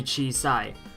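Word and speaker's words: 小さい: this phrase um so the country itself is cheat the phrases mean and it's normally used to say small and the phrase is actually chi sai small so we can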